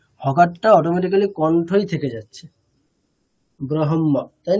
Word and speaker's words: ব্রহ্ম: যদি হকারটাকে করি হকারটা অটোমেটিকালি কন্ঠই থেকে যাচ্ছে ব্রহ্ম তাই না কিন্তু হকারটার উচ্চারণ স্থানটা হৃদয় কখন হবে যদি আমি আগে